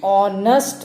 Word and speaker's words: honest: Similarly, we say an honest man because H in honest is silent. The word begins with the vowel sound O.